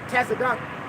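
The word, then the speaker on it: צדק: Tazadak. That's how you say it in Hebrew, which means righteous or just.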